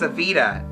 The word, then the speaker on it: Evita: say my name right they kept on calling me a but I'm like no it's Evita there's a V not a D and after like the